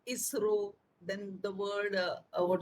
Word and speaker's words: ISRO: my mind isro but if we can pronounce a word in english when it is abbreviation that is called acronym so we will say isro then the word uh